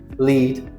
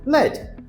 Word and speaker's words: lead: On the other hand, homographs are words that are spelled the same but also have different meanings and different pronunciations. An example of homophones, C and C. An example of homographs, lead and led.